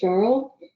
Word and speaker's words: Cheryl: hi my name is Cheryl uh and uh for those of you to help pronounce that it is like Carl but with an sh in front of it and if all those